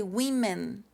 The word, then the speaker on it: women: woman like Wonder Woman but when you talk about more than one you say we men with we we sound